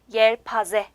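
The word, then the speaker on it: yelpaze: 자, 부채는 터키어로 옐파제 이렇게 읽어주시면 돼요.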